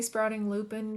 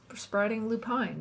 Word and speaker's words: Sprouting Lupine: I I always want to say Sprouting Lupin because that's how the flower is pronounced, but from the people that I've seen online, they pronounce it sprouting Lupine.